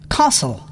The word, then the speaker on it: castle: T is not pronounced in these common words: castle, Christmas, fasten, listen, often, whistle. thistle, Silent U.